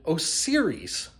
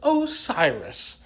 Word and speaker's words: Osiris: say it a lot in this video I pronounce it OS series I blame Apple because of Siri and this just has an o in the front of it so it looks like osiri but it's Osiris and now I feel like a giant idiot